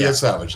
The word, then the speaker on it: Yesavage: It's Trey Yesavage or Savage. Yeah, Trey Yesavage. That's not just like it looks.